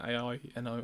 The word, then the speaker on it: Aino: I think that's how you pronounce the name, A-I-N-O, Aino.